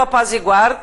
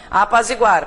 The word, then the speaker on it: apazigua: Gente, a pronúncia forte está aqui, tá? Não apazigua, né? Apazigua. É bom, aqui a sugestão é que você sublinhe a sílaba tônica, né?